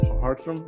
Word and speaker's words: Hartrum: Hartrum, am I pronouncing it right?